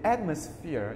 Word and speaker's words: atmosphere: The atmosphere is like a party. The atmosphere. Trọng âm đứng ở âm đầu tiên.